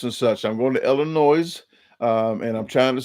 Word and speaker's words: Illinois: such I'm going to Illinois um and I'm trying to say Illinois as much as possible for the people that live in Illinois that say that's not Illinois it's Illinois so uh I lived in